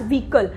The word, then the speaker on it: vehicle: People usually pronounce it as vehicle, but it is not the right pronunciation, it is pronounced as vehicle. Here the H word is silent.